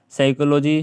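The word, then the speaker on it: psychology: और साइकोलॉजी ठीक है इसमें सब पी साइलेंट है क्योंकि एस एस जो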